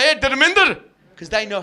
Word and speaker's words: Dharmander: Because they'll talk to me and they'll be like, hey, Dharmander, because they know how to say it, right? Dharmander, you lucky bastard.